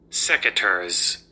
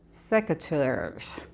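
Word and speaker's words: secateurs: And this is how it is pronounced. Securs. Securs.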